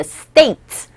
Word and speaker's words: states: s 뒤에 올 때는 된 소리, 뜨 소리가 발음이 나요. 그래서 in the states, state가 아니라 states로 된 소리로 발음된다는 거, 요거 키포인트 발음에 있어서 캐치하시고 다시 한번 이 내용 처음부터 들어주시기 바랍니다.